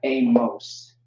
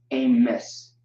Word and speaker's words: Amos: This is not Amos, it's Amos. And the proof of that is Amawas. Amos, Amawas, Amos. Okay? Amawas, Amos. That's how you pronounce that.